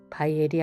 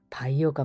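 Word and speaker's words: Bayer: 바이엘이 아니라 창업자의 이름도 회사 이름도 바이어가 맞습니다. 아스피린이 우리나라에 처음 들어온 건 일제 강점기 시대부터였는데요. 일본식 발음의 영향으로 바이에루라고 불리다가 바이엘이란 명칭으로 불려졌던 것.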